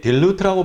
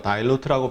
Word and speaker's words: dilute: 이게 dilute라고 발음하는 분도 있고요. dilute라고 발음하는 분도 있는데 희석시킨다.